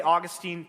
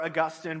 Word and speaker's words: Augustine: Technically, there are two valid pronunciations. If some of you want to say Augustine, that's fine. Okay. It's okay. Uh, among scholars today, they tend to prefer Augustine, but they're both valid pronunciations.